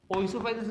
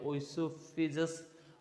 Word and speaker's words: Oesophagus: कई कहते हैं इसको ओइसोफेगस, कई कहते हैं ओइसोफिजस, और कई कहते हैं ओइसोफेगस, कई से इसोफेगस भी कहते हैं, राइट।